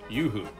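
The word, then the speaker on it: Uhu: scale great wall kit of the fw 189 yoohoo and yes i did have to look up how to pronounce that it loosely translates to eagle out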